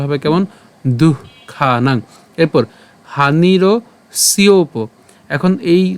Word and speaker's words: দুঃখানাং: আমাদের বিসর্গ আছে আমাদের উষ্ণ ছাড়তে হবে সেজন্য উচ্চারণটা হবে কেমন দুঃখানাং এরপর হানির সিওপ এখন এই উচ্চারণটা আমরা এভাবে